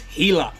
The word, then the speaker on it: Gila: we are looking at the goristas pirates healer and no i'm not pronouncing that wrong if we assume that